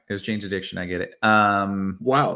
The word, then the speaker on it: Jane's Addiction: so that's fair uh so many people is janees addiction all right it was Jane's Addiction I get it um wow the people knew